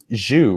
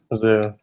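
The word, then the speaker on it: Zhu: a we have Henry it's zuu right Zoo official pronunciation or just say zoo like Z Zoo Henry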